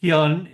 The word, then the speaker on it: Hyun: my name is Hyun. That's the pronunciation in Korean.